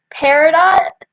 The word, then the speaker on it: peridot: it doesn't make sense peridot peridot peridot that's a dot you pronounced yeah it's it's a long dough and the T is silent that's how you that's